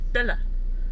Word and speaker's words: Belle: bella bell bella no belle in the movie the way they pronounced it was bella but whatever i don't